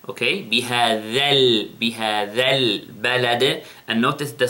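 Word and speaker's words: بهذا: Then, bihadha albalad. Notice the sound of the dhal. It is dhal. It is not za. I didn't say bihaza, okay? Bihadhal, bihadhal balad.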